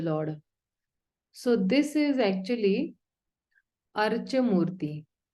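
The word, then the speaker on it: Arcā-mūrti: So this is actually Archa Murti. This is pronounced as Cha, Archa Murti.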